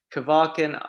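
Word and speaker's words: Kvarken: this so you can help me here kevarken archipelago is that right uh yeah that's right and where exactly in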